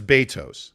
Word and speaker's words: Betos: All right, let's get some clarification here, because Dwayne Boone says in Spanish it's Betos. A gambler says Betos. So it's Betos.